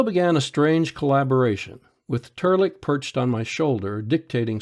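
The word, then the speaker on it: Trlk: my name's not fuzzy it's turlic pronounced tur lick and spelled t-r-l-k my name's larry weaver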